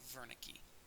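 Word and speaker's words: Wernicke: see in the text is spelled with a W but because he was a German researcher his name is pronounced as if it were a v so Veri unlike brok's patient Vern's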